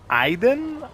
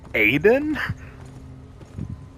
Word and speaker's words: Aiden: cuz it's so stupid she's literally pronouncing it wrong it literally starts with the letter a and she skips the a she calls him Iden I think everyone else calls him Aiden I think cuz she's